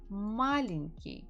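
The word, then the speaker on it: маленький: the words after me malinki the stress falls on the first syllable means he is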